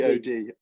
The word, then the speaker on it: Godrevy: I was going to ask you how you pronounce that Godrevy? Is that the beach? Godrevy. Godrevy. Godrevy.